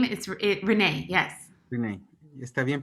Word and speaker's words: Renae: Renee, ¿está bien pronunciado tu nombre? Oh, my name is Renee, yes.